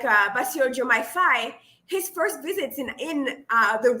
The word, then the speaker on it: Faye: It is Diomaye Faye, and I was saying Faye earlier, so apologies.